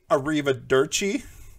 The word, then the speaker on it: arrivederci: Okay, I have to stumble repeatedly over the pronunciation of an Italian word, so... Arrivederci? Arrivederci? Me, politely. It's actually Arrivederci.